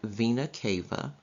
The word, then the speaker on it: vena cava: superior vena cava it's blue right here it's pronounced superior vena cava and it collects and carries blood from the